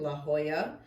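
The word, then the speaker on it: La Jolla: going to check out La Hoya yes I pronounced that right this time La Hoya um we are going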